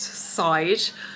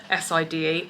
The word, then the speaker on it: Side: So, anyway, this evening we are going into Side, which I definitely thought was pronounced Side, s i d e.